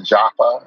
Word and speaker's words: Jafa: People often pronounce it as Arthur Jafa, and it's not Jafa, it's Jafa. Mm-hmm. But I would say I sort of stopped correcting people at a certain point, but it's definitely Jafa with a hard A.